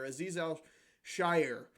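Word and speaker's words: Azeez Al-Shaair: Anthony Walker is fair aiz Al Shire I believe is how you say it gets a b um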